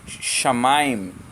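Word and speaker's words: שמיים: Shamaim, assim que se pronuncia.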